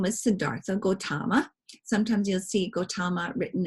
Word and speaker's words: Gautama: clan okay and but his name was Siddhartha Gautama sometimes you'll see Gautama written as g o ta ma because it's pronounced that way Gautama and around his birth its health and again